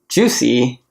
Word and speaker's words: Jousy: Hi guys, my name is Jousy. It's spelled Jousy, not like it sounds, but yeah, that's how you pronounce it.